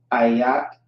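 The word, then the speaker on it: איך: Ayak is how you pronounce that.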